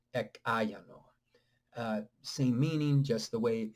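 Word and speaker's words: ekāyano: But when they are pronounced together, ek ayano.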